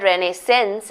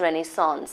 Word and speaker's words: renaissance: And it's S-A-N-C, it's not renaissance, it's renaissance. That's how it's pronounced.